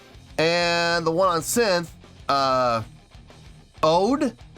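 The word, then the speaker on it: O.de: the one on synth, Ode, I guess, yeah, pronounced like the English word ode, okay, who will be on the right, so you can see why each are considered to be different.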